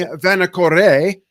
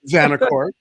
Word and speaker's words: Vanacore: And I'm here with first-time offender, first-time hazing for Vanacore, or Vanacore, depending on how you want to pronounce it.